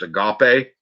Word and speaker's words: agape: So I have developed that sort of, as it pronounced, agape, that universal love where I do truly care about people.